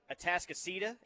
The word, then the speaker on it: Atascocita: They've got Duncanville at 2, DeSoto at 3, South Lake Carroll at 5, North Shore and Houston at 6, and Humble, Texas, Atascocita.